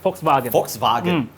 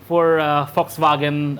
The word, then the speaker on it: Volkswagen: I pronounced that correctly. It's technically how you say it. Yeah, Volkswagen.